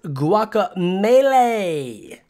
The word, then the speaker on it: Guacamelee: that that wasn't me oh it's pronounced guacamelee like smash burro's great